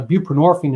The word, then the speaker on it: buprenorphine: suboxin came out it's buprenorphine is the trade name which rhymes with morphine so it's a a